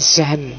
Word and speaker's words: Jean: Tulisannya Jean cuma membacanya apa kayak Jean Jean ya Jean bukan Zhong ya Zhong jadi semacam Jean Jean Boudriat A jadi Jean Boudriat.